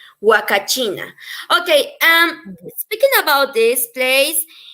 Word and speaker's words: Huacachina: yeah, because in Spanish, as we know, the H is silent. So in Spanish, it Yeah. would be huacachina.